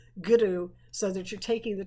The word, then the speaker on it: guru: but it's actually well it is a rolled European R but it actually sits back on the tongue goodu so that you're taking